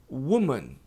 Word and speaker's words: woman: Agora, mulher, woman, é esquisito, né? Eu sei que é esquisito. Woman, porque eu coloquei um U antes do U agudo. Woman, woman.